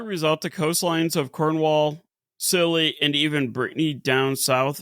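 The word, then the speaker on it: Scilly: However, the gap between silly skill see I I keep want to say skiilly. It's just silly. It's silly. No, it the lady really did pronounce it silly like like lol.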